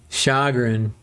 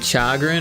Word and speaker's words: chagrin: Shagrin. Is it Chagrin or Shagrin? Thank you. By the way, Kixie, you're you're my English teacher. It's not quite Chagrin is Shagrin, but it's spelled Chagrin.